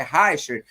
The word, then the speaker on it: Reichert: Pronunciei o seu sobrenome corretamente, é Harcher.